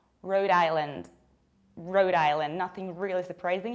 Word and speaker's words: Rhode Island: Another teeny tiny state is this one, and we pronounce it like Rhode Island. Rhode Island, nothing really surprising here. Remember about stressing, not really island, but rather island, Rhode Island.